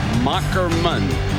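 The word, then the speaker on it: Moherman: the name is pronounced mockerman as he explained to us that's old German with the H is a k 63 215 lb completed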